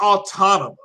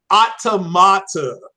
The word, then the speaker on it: automata: don't people as automata it's not autonomous autonomous of western pronunciation automata you know is the correct pronunciation but near goes over